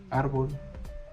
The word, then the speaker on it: árbol: Por ejemplo, árbol este difícil y lápiz. Por ejemplo, árbol la tiene la a difícil en la en la segunda I. y lápiz en la primera a.